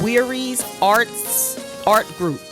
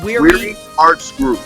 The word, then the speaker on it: Weary Arts Group: Am I saying it right, Calvin? Weary's Art Group. Or Weary Arts Group. Arts Group. Okay. Arts Group, right.